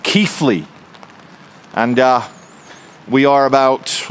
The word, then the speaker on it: Keighley: 2.0 we're here in you might think you'd pronounce it key but it's pronounced keyle and uh we are about o 10 miles